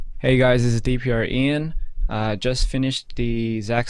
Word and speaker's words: DPR IAN: studio gprn hey hey is that so much pronounced correctly um yes that is correct DPR Ian talking to that bad boy eat that microphone